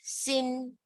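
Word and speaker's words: xin: i is C okay x i n is sin x i and G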